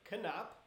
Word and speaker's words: Knapp: When people ask what's my name, I'm like, it's Knapp. So if you say "Can't Stop Knapp," that should, it's like, just remember "Can't Stop Knapp."